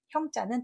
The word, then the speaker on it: 珩: 그래서 이 도량형 꼭 알아두시고 형자는 저울이었다는 거. 패옥 형자는 앞에 있는 한자가 구스록이고요. 단일 행자가 형 발음을 했겠죠. 그래서 발음이 행이 아니라 형이니까 조심하시고, 패옥이라고 하는 것은 벼슬아치들이 차고 다니는 옥인데, 그 옥에 자기의 계급명이 써 있어요.